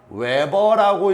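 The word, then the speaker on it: weber: 단위는 우리가 WB라고 쓰고 읽을 때는 뭐라고 읽는다? 외버라고 읽어 줘요. 뭐라고 읽어 준다? 외버.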